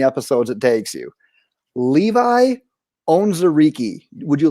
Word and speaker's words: Onwuzurike: Levi Onwuzurike.